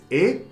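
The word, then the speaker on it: へ: Từ này được phát âm là "e", không phải "he".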